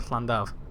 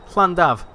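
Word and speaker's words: Llandaf: So to pronounce a double L sound, it's like a... So put your tongue at the roof of your mouth and just blow. Go like that. Like you're hissing like a cat.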